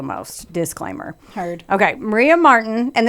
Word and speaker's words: Marten: Maria Marten, and this is spelled Marten, and then it evolved to Ti later, but it's Ten, was born on July 24th,